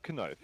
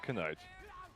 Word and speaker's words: knife: in English but uh later through through um like uh common use of the word people opted to not pronounce the K.